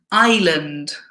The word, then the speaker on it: island: pronunciation here so here this word is island the S is silent darlin e desert